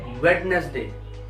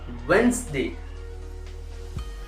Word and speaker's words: Wednesday: हाँ जी दोस्तों, आप हमेशा यही कहते हो, आप क्या कहते हो, वेडनेसडे, बट जो है वेंसडे. आई नो इसकी स्पेलिंग WEDNESDAY है, बट यू हैव टू से वेंसडे, WENZ, वेंसडे, DA.